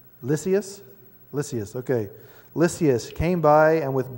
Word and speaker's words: Lysias: But the commander, anybody got a proper enunciation for that pronunciation? Lysias.